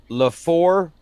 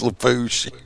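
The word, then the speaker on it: Lafourche: Well, it's Thibodeau, but Laforchi. It's Lafouche. That is not Lafouche. Yeah, it is. You're full of shit. There's too many letters. It's pronounced Lafouche Paris.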